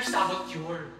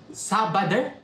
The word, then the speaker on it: saboteur: Your inner saboteur. Inner what? Saboteur! Sabader?